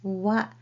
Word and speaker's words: は: By switching out X with different nouns and pronouns, you can make different sentences with different topics.And this hiragana, ha, is pronounced as wa and is a particle.